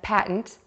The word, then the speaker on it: patent: with an N pattern to say the word patent again focus on the second syllable tin start with a t sound move to the I by relaxing your lips then add the T patent patent let's give